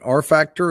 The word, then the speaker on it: rfactr: a little bit is it how do you pronounce it r factor is that right that is right our factor